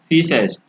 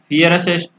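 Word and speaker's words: fiercest: आर यहाँ पर silent है, इसको हम बोलेंगे फीसेस्ट। तो ये फियरेस्ट, फियरेस्ट बोलना होना चाहिए, लेकिन आर यहाँ पर साइलेंट है इसलिए बोलेंगे फीसेस्ट। तो ये सबसे डरावना और बर्बर क्या होता था, शेर होता था।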